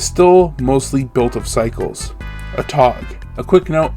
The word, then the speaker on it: Atog: Atog. A quick note, I will be pronouncing it a tog. I do know there are people who say a tog.